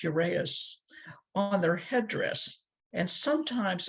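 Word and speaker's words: uraeus: had a cobra symbol i think it's pronounced urease on their headdress and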